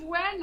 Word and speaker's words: Nguyen: It's Joseph Wen. I actually know him. That's funny. Oh, do you? So you can pronounce his surname? Yeah, it's Joseph Wen.